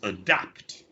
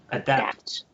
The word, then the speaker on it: adapt: that okay right so the schwa is it this one it's a schwa at the beginning okay so it's not adapt it's adapt adapt adapt adapt adapt when